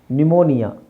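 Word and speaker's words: pneumonia: ಮತ್ತೆ Latin so ಹಾಗಾಗಿ ನ್ಯುಮೋನಿಯಾ ಈ ಸೈನ್ಸ್ ಅಲ್ಲಿ ಬರುವಂತಹ ಬಹಳಷ್ಟು ಪದಗಳಿಗೆ ಪಿ ಇರುತ್ತೆ ಪಿ ಸೈಲೆಂಟ್ ಆಗಿರುತ್ತೆ ನಿಮೋನಿಯಾ ನಿಮೋನಿಯಾ ಒಂದು ರೀತಿಯ ಜ್ವರ ಆಮೇಲೆ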